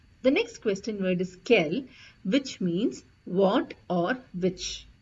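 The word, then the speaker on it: quel: l l e s so however the pronounciation Remains the Same for all four of them it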